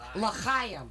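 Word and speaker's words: לחיים: Okay, it's L'chaim. Say it right. L'chaim. You have to phlegm it up a little Wow.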